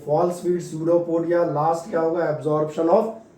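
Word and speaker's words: pseudopodia: और इनके लिए टेक्निकल नाम है, ये ध्यान रखना, पिसियोपोडिया मत पढ़ देना, नहीं तो पिसियोपोडिया पिन्यूमोनिया जैसा हो जाएगा। निमोनिया और स्यूडोपोडिया, इनमें आपका पी साइलेंट है, तो हमने क्या लिख दिया था?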